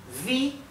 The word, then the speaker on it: wie: Estuvimos viendo es vea vi como verdad Recuerden que en alemán esta combinación de vocales la i con la e siempre se pronuncia así I una I abierta